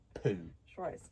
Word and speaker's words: Poo: autograph the signs with the word poo pronounced po so it's definitely poo